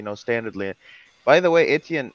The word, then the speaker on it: Etienne: Etienne. So Etienne has been talking to Christo. You know Christo, Paul, right? Christo, he's the guy that's been pushing, you know, standardly. By the way, Etienne, like, so I just saw him and I remember.